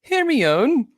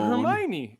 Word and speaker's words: Hermione: harry potter no hermione i pronounced this hear me own herbie own is that the movie i have no idea i don't know if anyone has named her not hermione hermione hermione and i still stick